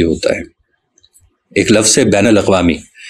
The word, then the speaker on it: بین الاقوامی: ہے۔ ایک لفظ ہے بین الاقوامی۔ اب بین کے نون پر زبر ہے، مگر اردو کے اکثر